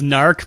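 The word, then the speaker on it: Gnarrk: Gnark, which apparently is pronounced narc, but I'm going to keep saying Gnark.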